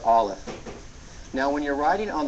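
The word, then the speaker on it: א: the Hebrew alphabet is Olive and it's actually silent it's a silent letter and we'll talk about the impact that has on pronunciation later but for now you just need to memorize that the letter Olive is silent it's written with three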